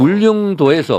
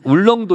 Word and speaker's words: 울릉도: 그니까 울릉도에서 울군 기초을 발음은 좀 잘 안 되네. 울릉도 울릉이라 그래. 어 발음이 전혀 안 되시네. 울릉군. 아이 울릉군. 울릉군. 근데 평상도분들은 울렁도 이렇게 하나.